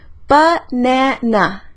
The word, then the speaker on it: banana: con la palabra banana tenemos tres sílabas banana y la segunda lleva énfasis lleva el acento de esa palabra pa n na yo